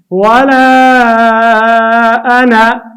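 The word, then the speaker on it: ولا أنا: ګران زده کوونکو، ولا انا دغه الف موږ نه تلفظ کوو، بلکې صرف زور یا فتحه وایو، ځکه که چېرته هغه وایو نو بیا به دا غلطه شي.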